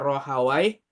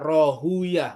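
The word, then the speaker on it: راهويه: Hawai ada yang baca Ro Hawaii ada yang baca Rohuyah boleh dua bacanya itu.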